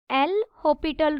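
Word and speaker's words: L'Hôpital: देखिए क्या होगा यूजिंग एल होपिटल रूल इसमें एस साइलेंट होता है इसे हम एल हॉपिटल पढ़ते हैं लिमिट बाहर लिमिट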